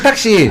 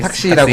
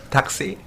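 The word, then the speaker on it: thạc sĩ: 택시. 아, 택시. 택시는 아니고 탁시라고 하는데 네. 저희 원어민 발음으로 한번 들어볼까요? 닥시.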